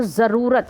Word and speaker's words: ज़रूरत: जैसे अब ये जो आगत भाषाएं जब हम बोलते हैं, जैसे ज़रूरत, सही उच्चारण नहीं है, ज़रूरत होता है, ज़रूरत, तो ज के नीचे एक नुक्ता लिखा हो ज हो जाता है।